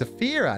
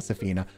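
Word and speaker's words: Saphira: different person um s it's safira not Safina I remembered it after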